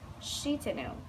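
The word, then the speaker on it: Shitennou: I have been saying Shitano wrong, so thank you. I will say it correctly. Shitano.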